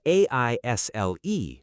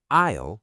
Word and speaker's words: aisle: It's spelled a i s l e, but the s is silent. You say aisle like aisle.